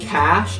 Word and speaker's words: cache: your computer, a CPU's cache is like short-term memory, like super short-term memory. So cache, and that's spelled C-A-C-H-E, not cash like money.